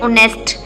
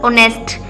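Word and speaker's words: honest: देखिए ऑनेस्ट एच यहां पे क्या है? साइलेंट है। ठीक है? एच साइलेंट है। तो हम पढ़ते हैं ऑनेस्ट ओ से स्टार्ट। ठीक है? ऑनेस्ट।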